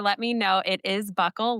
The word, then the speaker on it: buccal: It's buckle administration. So, it's not like your belt buckle. It's spelled B U C C A L. And you might hear people say bugle.